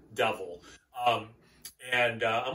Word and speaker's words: Duvel: been rewarded by aging duval duval harry pronounce it devil um and i'm like